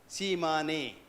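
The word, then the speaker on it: Tsimane: It's spelled as T-S-I-A-M-N-E. Shimane. And the Shimane are a tribe in the deep down Amazon forest on the Bolivian side, on the Brazilian side.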